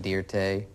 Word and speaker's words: Dirte: Anyway, I just put an E on it, pronounce it Dirte.